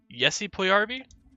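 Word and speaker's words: Puljujärvi: It's Jesse Puljujarvi, not Jesse.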